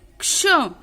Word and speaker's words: क्ष: जैसे क्ष, क्ष का हम उच्चारण करते हैं तो हम पहले क, उसके नीचे हलंत आधा क बोलते हैं प्लस श बोलते हैं तो क्ष बनता है।